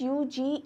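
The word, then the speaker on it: Hughes: वो यूज ही है एच यू जी एच ई एस ठीक है अब यहां पर जी को या एच को या जी एच के कॉमिनेशन को आपको बहुत स्ट्रांग प्रोनाउंस नहीं करना होता है इट्स यूज राइट तो जेम्स यूज जो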